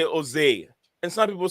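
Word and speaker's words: José: Yeah, Jose, and some people say Jose, and some people say Jose, and I don't know. Some keep the J silent, and others pronounce the J.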